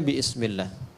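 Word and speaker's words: بسم الله: Asalnya ini ada alifnya di sini dari kata ismun. Begini. Asalnya bismillah. Dibaca nyambung bismillah. Dan cuma di Bismillahirrahmanirrahim alifnya hilang.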